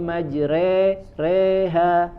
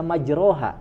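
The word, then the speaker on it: مجريها: ayat ke-41 reha Bismillahi majreha ya ini imalah ya condong dia harokatnya fathah tapi tidak dibaca majroha ya tidak dibaca majroha dibacanya apa majre lebih condong ya ke kasroh ya dan ini hanya di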